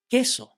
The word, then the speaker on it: queso: The vowel U doesn't make any sound in this combination. Q de queso.